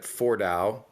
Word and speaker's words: Fordow: this one nuclear enrichment site at Fordow. That's how that's pronounced.